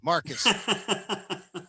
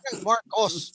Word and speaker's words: Marcos: even call Marcos like he's like a Jewish guy, Marcus. Marcos, Marcos, not like Neiman Marcus.